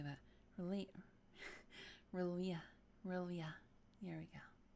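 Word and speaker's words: R'lyeh: Relia. There we go. Relia. Gotta kind of roll the tongue there. Relia.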